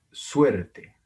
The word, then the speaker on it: suerte: Y la palabra se pronuncia suerte, suerte. Vean que el acento está en la sílaba suer.